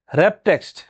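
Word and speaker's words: Wrap Text: বুঝলাম আচ্ছা তারপর আছে র‍্যাপ টেক্সট এখানে লেখা আছে ওয়ার্ক টেস্ট আসলে উচ্চারণটা কি হবে র‍্যাপ টেক্সট র‍্যাপ টেক্সট এর কাজটা কি আমরা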